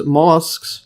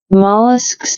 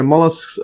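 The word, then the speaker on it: molluscs: So other animals such as molllesks. See the pronunciation again. Mollisks. Yeah. Mollisks such as snails, octopus, etc.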